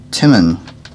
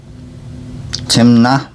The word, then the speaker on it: Timna: lotan were i and yeah lotan's sister was timmin tim na timna timna and these were the sons of